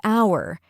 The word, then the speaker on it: hour: That's why we say an hour. The H is silent, so it starts with a vowel sound.